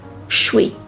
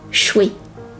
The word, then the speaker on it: should we: The pronunciation is shui, shui.